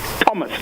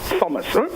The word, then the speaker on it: Thomas: capital T especially names the H is silent the th diagraph in English language has that peculiarity okay so the your guest the name of your guest is pronounced Thomas not Thomas what it's worth now